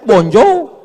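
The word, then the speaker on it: bonjour: Tulisannya bonur. Bacanya bonjou.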